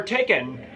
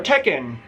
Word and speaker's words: Tekken: from Sweden this is your taken your Tekken which is how it's pronounced this is a self-titled